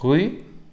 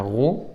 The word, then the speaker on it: rue: Une maison, une ville, une école, une rue, cuidado la prononciación del U, rue, pas roue, rue, ok, un pays, une plage, une mer, un océan, une forêt, une montagne.